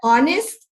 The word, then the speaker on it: honest: look at this an honest man eh is not a vowel in the English language however the word honest is the H is not pronounced okay it's silent the H is silent and in the letter